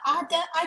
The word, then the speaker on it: Adai: Ada, I don't want to pronounce your name wrong. I'm sorry, I'm not good with pronunciation, sir. How do you pronounce your name, sir? Adai Adai. Adai. Adai, yes.